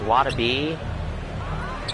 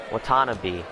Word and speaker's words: Watanabe: Now there's Wadabe. Oh, I mispronounced that. Sorry. Watanabe, I think it is.